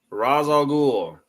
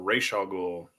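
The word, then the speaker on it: Ra's al Ghul: we've got hush versus razal ghoul or Ral goul depending on where you learned out of say his name um so let's go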